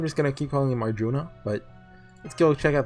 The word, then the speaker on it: Arjun: He pronounced it as Arjun. No at the end.